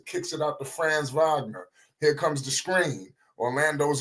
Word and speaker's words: Wagner: on them you got France Wagner Vagner pardon me you know I gotta get these pronunciations down Vagner with the mid-range over